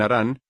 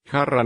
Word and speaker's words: Harrán: antes que él viviera en aran harrán estaría más cerca de la pronunciación hebrea el génesis no menciona